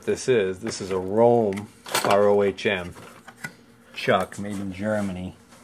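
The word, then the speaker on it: Röhm: Well, it turns out there's a chuck company from Germany that I think is pronounced like Rome.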